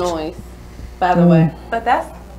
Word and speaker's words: Illinois: Illinois, by the way. But that's No. The S is silent.